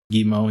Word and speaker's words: Guillemot: And how do you pronounce the guy's name? Is it Guillemot? Guillemot? Guillemot, yeah.